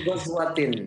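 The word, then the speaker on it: غزوة: Tetap aja bacanya Ghazwatin. Tetap kalau nggak ada alif.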